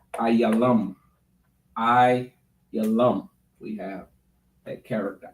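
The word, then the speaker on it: עילם: And in the Hebrew, it is Ayalam.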